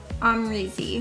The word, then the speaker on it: Amrezy: Amrezy.